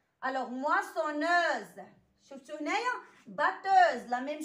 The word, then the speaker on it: moissonneuse: Alors, تلاحظوا على أن الكلمات الأولين فيهم S نطقات ليا عادي بحرف السين. مي في هاد الكلمات هادو بجوج تقرات ليا ز. Alors, moissonneuse.